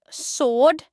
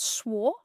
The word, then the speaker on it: sword: Here we have sword, not swore, not swore. That's the W very silent.